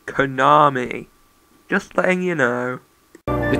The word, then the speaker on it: Konami: on this game oh by the way it's pronounced Konami just thing you know the challenge level is